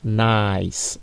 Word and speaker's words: nice: Donc, on va dire nice. Nous ne prononçons pas les E à la fin, mais seulement les C se prononcent parce que C ici précède E, autre que A. Voyez-vous? Donc, lorsque C précède une autre lettre que A, il se prononce S. Mais sinon, il va se prononcer, si c'est A, donc cat, cell, nice.